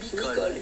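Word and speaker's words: Michol: M-I-C-H-O-L, prononcé Micol.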